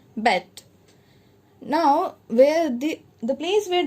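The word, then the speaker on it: Beyt: Now Khadir Bet, B-E-Y-T, it is pronounced as Bet.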